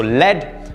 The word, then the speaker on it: lead: in petroleum and it was very bad so lead and this is to lead to lead someone